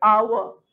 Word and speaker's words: hour: एच तो vowel नहीं है, बट आवर. आवर.